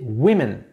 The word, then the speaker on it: women: Voilà, c'est la même chose pour woman qui va se prononcer women, mais ça s'écrit W O M E N.